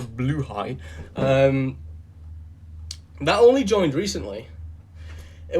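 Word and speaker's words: Blåhaj: and also the shark, the Blahaj, or as it's actually pronounced, a Bluehai, that only joined recently.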